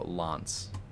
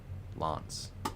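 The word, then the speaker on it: L'Anse: Oh, also the A is flat. True. A is flat. So, Lance, like lawn. Lance.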